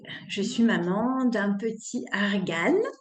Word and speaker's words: Argan: suis maman d'un petit Argan ça se prononce argane même si c'est si